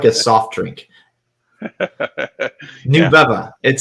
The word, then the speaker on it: Nubeva: about it it sounds like a soft drink new bubba it sounds like a like what tell me